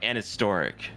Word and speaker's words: an historic: So it's you actually pronounce it like anhistoric. You don't even really say the H.